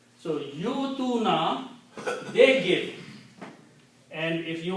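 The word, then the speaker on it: يؤتوا: But don't pronounce wow. Well, wow has nothing to do with this word, except that it is helping Hamza. So yutuna, they give.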